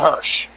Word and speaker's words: Hirsch: The correct verbiage would be Layla Hirsch.